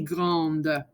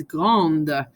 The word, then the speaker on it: grande: Elle est grande. Okay, so notice when it's a female adjective, you hear the end of the word. It's not petit, it's petite. It's not grand, it's grande.